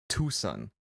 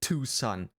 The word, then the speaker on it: Tucson: Tucson. Who would call that Tucson? Then write Tucson. Like two sons.